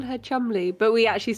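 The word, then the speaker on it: Cholmondeley: What the I would say seeing at it, I would say Kanderlay. No. Why? What is it pronounced? You're going to be so angry. Yeah. Okay. It's Chumley.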